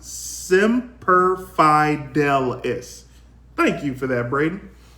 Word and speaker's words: Semper Fidelis: of this time um semper fi dallas always faithful in Latin CT is pronounced semper fidelis thank you for that